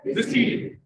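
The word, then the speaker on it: receipt: रिसीट, रिसीट, P silent होता है, रिसीट concept.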